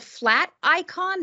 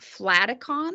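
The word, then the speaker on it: Flaticon: to do that and this is called flat icon not flat accom sorry my kids my students are like mrs. Emsley you're pronouncing that incorrectly so and it comes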